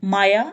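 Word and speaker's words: моя: मेरी माँ, मोया माँ, माँ-ओ-य-ए माँ।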